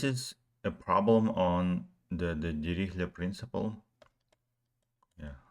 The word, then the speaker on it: Dirichlet: Yeah, I've heard some of people saying that, like pronouncing this as Dirichlet. But yeah, I like it as Dirichlet. Yeah, that's most of the world pronounce this as Dirichlet.